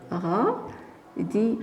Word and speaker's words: radis: Ici, alors, on n'entend pas. Donc, la lettre S. Donc, le radis.